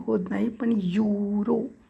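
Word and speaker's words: Euro: silent मध्ये जातो बघा इ होत नाही पण युरो यु आणि रो चा होतो पण स्पेलिंग आहे यु युरो इ यु आर ओ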